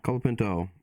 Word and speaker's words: Colapinto: so how do I say his name again colapinto colapinto our bonus points are between colapinto and beer